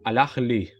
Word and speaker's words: Al-Ahly: Nahuel, dije que eras de Boca, te veo con la Sí, campera del Al-Ahly, ¿así se pronuncia?